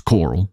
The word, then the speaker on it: Coral: complaining by the way it's Coral c o r a l it's not me pronouncing Coral like like Rick Grimes Coral Leah said it was